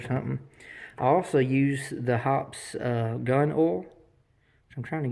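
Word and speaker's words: Hoppe's: I absolutely love, it's pronounced different ways, but I say hops #9. I've heard of hoppies or #9, whatever.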